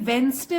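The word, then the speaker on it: Wednesday: तो वेनसडे को देखिए वेनसडे बोलते हैं डी साइलेंट होता है इसमें वेनसडे तो गवर्नमेंट ने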